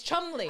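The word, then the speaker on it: Cholmondeley: of Chumley of Chumley now it's not spelled like how it's I said it but it's Chumley allegedly that's how it's said allegedly that's how it's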